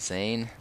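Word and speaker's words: Xain: one i thought of was zayn which is a huge boss you fight it's spelled x-a-i-n and i didn't think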